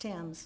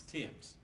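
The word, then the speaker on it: Thames: h a m s it's pronounced Tims Tims and your information is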